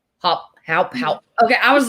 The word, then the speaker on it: Haupt: Is it Haupt? Technically, yeah, but we say hop, like H-O-P. Haupt.